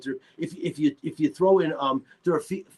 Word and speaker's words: Dorofeyev: If you throw in Dorofeyev, how do you say his name again?